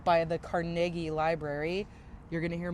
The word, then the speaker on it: Carnegie: this is carnegi and this is carnegi carnegi not Carnegie that's a New York pronunciation and don't even try